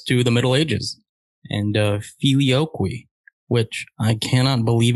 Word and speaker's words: filioque: And, you know, that brings us to the Middle Ages and filioque, which I cannot believe it's said like that. I looked it up, but it's filioque.